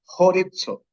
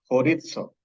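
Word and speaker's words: χωρίζω: La palabra traducida separe en el versículo 10 es la palabra horizo. Se pronuncia como una J y la Z como si fuera DZ. Horizo.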